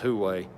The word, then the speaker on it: Huawei: I can't pronounce it right. I think it's Huawei.